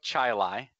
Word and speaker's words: Chili: At least that one was short, and I just kind of it's spelled chili, like. But yeah, it's Chai Lai.